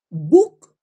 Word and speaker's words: book: inglés de pronto y ves doble o Normalmente se pronuncia entre una u y una o es es como choose choose ch ch verdad libro vale libro se pronuncia Sí o sí Book Bueno si dices Book